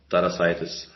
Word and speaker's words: Tarasaitis: So it should be pronounced Tarasaitis.